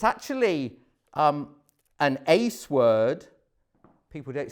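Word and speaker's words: εἰς: it's actually um an ace word people don't say ace anymore do they but but it's literally Ace because that's how you pronounce the Greek word translated in there Jesus is saying don't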